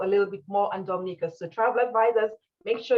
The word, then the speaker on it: Dominica: Dominica, pronounced Dominica, is known as the nature island, where beautiful green landscapes, fascinating wildlife, and adventure activities await travelers.